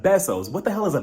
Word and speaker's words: besos: It's besos, Lisa, besos.